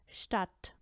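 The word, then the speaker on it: Stadt: लेकिन अगर ये वर्ड्स के शुरू में साथ ही फे या ठे के साथ आए तो इस स का साउंड हो जाता है श।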